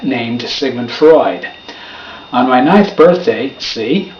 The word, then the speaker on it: Freud: but I'm not Sigmund frood having never heard of Freud I was pronouncing his last name the way it looked Sigmund was easy to sound